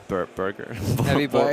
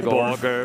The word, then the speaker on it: Borger: Burger. Heavy Borger. It's definitely an O, not a U. I would say Borger, pretty certainly.